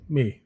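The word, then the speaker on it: Mey: moment so it's castle may right on the castle castle main garden says may m-e-y it's spelled so that's this is where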